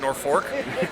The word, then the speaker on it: Norfolk: I think they say it's spelled Norfolk, but he says it Norfolk, Nebraska. Went to a Catholic school